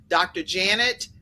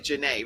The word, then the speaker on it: Janae: Janet but it's really Janae, right? That's how. Yes, yes. It just I'm only doesn't. saying Dr. Janet because of the fact that that's how it's spelled, but her That's name right. is Dr. Janae, just so everyone knows.